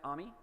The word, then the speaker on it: AMI: special ami or as AWS it turns out they pronounce it ami which I didn't know